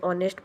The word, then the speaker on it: honest: More example, an honest person o silent h means o sound. An air here uh n h is silent.